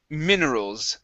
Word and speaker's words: minerals: Okay, next up we have minerals. Give me a short I sound here instead of minerals. It's minerals.